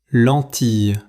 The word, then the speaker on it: lentille: Écoutez bien cet exemple et répétez après moi : Lentille. Lentille. Faites attention : dans ce mot, les deux « l » après le « i » ne se prononcent pas.